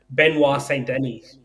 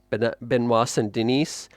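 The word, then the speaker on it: Benoît Saint-Denis: Now, the other one that you said, the aforementioned Poirier, um, Saint, sorry, how do I pronounce it again? Benoit Saint-Denis. Benoit Saint-Denis.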